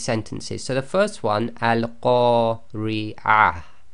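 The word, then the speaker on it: القارعة: Now the way you've got to pronounce this is because that TaaMarBooTah is at the end of the sentence, we will pronounce that as if it's a ha and it's sakin.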